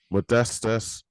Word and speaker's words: Modestas: you said the first name correctly though mate modestus Perfect Mate perfect so look um have you